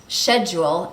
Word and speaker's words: schedule: just pronounced totally differently one that comes to mind is the word schedule which is pronounced schedule in british english so the same word